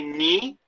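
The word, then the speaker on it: knee: me can people say me me now this is one of the interesting things about english is that you see how you spell me k-n-e-e the k is silent so you don't say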